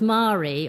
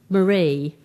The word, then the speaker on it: Marie: getting my name right my name is pronounced mari although a lot of english people think it's marie and i always say